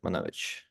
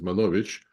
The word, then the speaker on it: Manovich: know in Russia right my proper pronunciation of my last name is manovich but when I came to America you 43 years ago I learned it has to be manovich it's like usual hsky